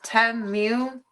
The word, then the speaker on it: Temu: It's Temu. Oh, so I say it right. Well, not the moo. I say mew, like a cat instead of cow.